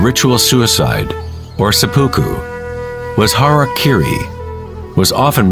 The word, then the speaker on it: harakiri: one form of ritual suicide or seppuku was harakiri was often mispronounced as Harry Carey it means to impale one's horror thereby cutting